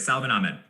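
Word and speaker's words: Salvon Ahmed: would be like uh salvan ahmed is that how roughly how you say it right you said it exactly right salman ahmed yeah okay so yeah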